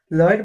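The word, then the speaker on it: Lloyd: अब अगला देखते हैं, लॉयड बोटेनिकल गार्डन दार्जिलिंग। ये एक डबल एल है, यहाँ पे एक एल साइलेंट हो जाता है, तो लॉयड बोटेनिकल गार्डन दार्जिलिंग।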